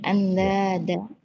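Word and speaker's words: أندادا: itu bacanya andada anda ya andada i ee tandingan atau sekutu sekutu wa antum e sedangkan kalian dan kalian taklamun kalian mengetahui.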